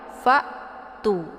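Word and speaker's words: فَأْتُوا: Jadi alif ini tidak dibaca ya. Jangan nanti dibaca fa'tu abisu.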